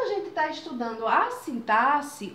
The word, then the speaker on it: sintaxe: Um deles é a morfologia e o outro é a sintaxe. É assim que se pronuncia mesmo, viu? Sintaxe. Não é sintaxe, não.